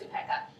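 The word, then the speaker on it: upekkha: The final one is um or pronounced upeka equinimity which is sort of an inner steadiness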